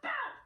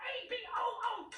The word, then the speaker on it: about: It's about A-B-O-U-T, not A-B-O-O-T. Stop saying a boot. This is a boot. That is a boat.